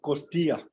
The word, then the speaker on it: Costilla: How do you pronounce it? Costilla.